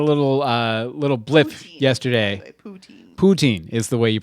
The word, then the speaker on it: poutine: and got a little a little blip yesterday poutine is the way you pronounce it okay so a netflix yesterday released